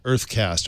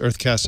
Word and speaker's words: UrtheCast: It's a service that went live today called Earthcast. Earthcast is spelled URTHECAST.